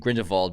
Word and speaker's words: Grindelwald: Fantastic Beasts, The Crimes of Grindelwald, and I believe it's pronounced both Grindelwald and Grindelwald by different characters in the film, so I think either pronunciation is fine.